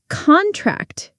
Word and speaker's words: contract: Contract is a noun, a business contract. But contract is a verb. Muscles contract.